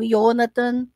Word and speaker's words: Jonathan: falar Jonathan mas eh não há som de J no hebraico então o nome vai sempre ser pronunciado como se tivesse um Y no começo tá então yonathan ou yonathan né Mas é a